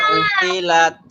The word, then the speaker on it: عطلت: ইদাল ইশারু وإذا العشار উতিলাত عطلت উতিলাত। عطلت এখানে লক্ষণীয় হলো আইন তপে উত এখানে লক্ষণীয় বিষয় হলো এই যে প্রথম আইনটা, এটা হামজা অনেকে পড়বে, উতিলাত হবে, এই উ বলা যাবে না।